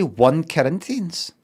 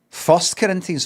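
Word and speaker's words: 1 Corinthians: Did you say one Corinthians? One Corinthians or Corinthians 1, but it's kind of written like that. You don't say it like that. We're in the parl loop. Everybody first Corinthians.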